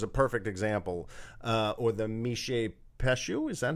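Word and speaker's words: Mishipeshu: right, which is a perfect example, or the Mishe Peshu, is that how you say it? Mishe Peshu, yeah.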